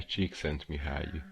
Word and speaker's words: Csikszentmihalyi: A ver, Google, por favor, acláranos, ¿cómo se pronuncia Mihaly? 1, 2 y 3. Mihaly Csikszentmihalyi.